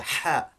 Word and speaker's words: ha: So what we get is a ha sound, a ha, and it's sometimes heard in some English exclamations. For example, aha. If you were to say aha, you would sort of hear this sound. And also, for example, if you were to shout hey, all right, you might make this sort of an H sound. So it's not the equivalent of our English H as in hello or hi.